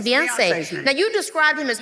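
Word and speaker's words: Beyincé: Now, how do I pronounce it? Boy. It's uh Beyonce. It's like Beyonce. Oh, it's Beyonce.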